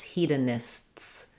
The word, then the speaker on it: hedonists: Hedonists, hedonists.